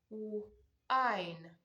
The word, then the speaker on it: wine: Wine, wine. So this is also another word that follows the silent E rule.